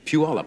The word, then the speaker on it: Puyallup: Puyallup, I believe it's pronounced, right? Yes, it is. Anybody know Daffodil.